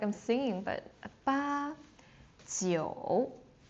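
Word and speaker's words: 九: Ba, and it doesn't drop, so it sounds sounds like I'm singing, but ba Jiu Jiu, it's low again.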